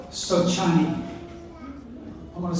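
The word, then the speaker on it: sochani: for the Cherokee is a plant they call of chin I'm going to spell that for you s o c h a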